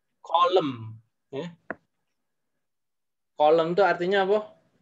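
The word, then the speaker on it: coulomb: C itu bacanya kolom.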